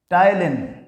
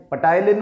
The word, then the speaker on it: ptyalin: इसका एक और नाम है PTYALIN, टाइलिन। We call it टाइलिन। पटाइलिन मत बोलना, अच्छा नहीं लगता। हाँ, इट इज टाइलिन। P is silent.